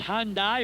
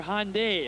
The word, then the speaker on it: Hyundai: guys in a hyundai pronounced hyundai or hyundai well whatever your whatever you'd like for the night but tonight's players of